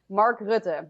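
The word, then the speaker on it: Mark Rutte: world economic forum too who's what's his name mark rude yes mark is very very deeply involved in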